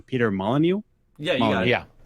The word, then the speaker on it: Molyneux: But I do remember when Peter, I always get his last name wrong, Peter Molyneux.